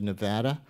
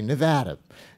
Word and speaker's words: Nevada: four years when those caucuses come around we say Nevada and then we go back to saying Nevada but anyway DeRay came